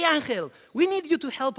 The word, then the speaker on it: Ángel: approach me and say hey Angel oh now I say angel I think I can pronounce my own name now hey anel we need you to